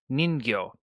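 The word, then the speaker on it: ningyo: going to be the Japanese word for doll and that is ningo n is spelled n i n g yo and N is very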